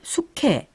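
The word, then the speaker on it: 수캐: 그러면 이제 개가 캐가 되고 닭이 이제 탁이 되고 또 돼지가 퇴지가 되는 것이 모두 다 이 히읗과 관련이 있다 그런 말씀으로 들리네요.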